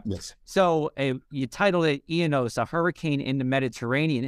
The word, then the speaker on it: Ianos: research study was called am I saying it right ionos is that the right way to say yes okay yes so you title it ianos a hurricane in the